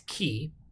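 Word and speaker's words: χ: a cousin a c it's key and so essentially you t you take out this s sound at the end and uh and it's a little lighter key so it's almost like an english c h but not when we say ch as in church but so key and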